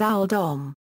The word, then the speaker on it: Oldham: based on his surname, which would probably have been pronounced at the time as Owl Dom.